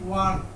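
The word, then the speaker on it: went: আরেকটা আছে ওয়ান্ট, W-A-N-T ওয়ান্ট, এটা মানে চাওয়া। আর এটা হচ্ছে ওয়েন্ট, উচ্চারণটা হবে ওয়েন্ট। দে ওয়েন্ট কি পড়তে, টু থাকলে তে থাকলে টু হবে।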